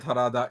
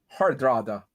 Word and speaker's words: Hardrada: believe or early september i think i've been pronouncing his name wrong the entire time i never noticed there was an extra dr in the middle of his name hardrada i just have another card